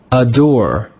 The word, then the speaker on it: adore: Adore, adore, adore. Can you hear how the first syllable is not stressed? It's a little bit quiet. Adore, adore. That is an unstressed syllable.